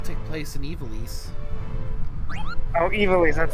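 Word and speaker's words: Ivalice: Oh, Evilise, that's how you say it.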